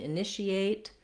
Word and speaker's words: initiate: So in initiate, this T is an SH sound. We have a true T here at the end or a stop T, initiate.